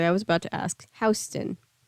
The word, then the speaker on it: Houston: in Houston Street which by the way is pronounced Houston sorry I was about to ask Houston not Houston sorry Sunny didn't mean to be called out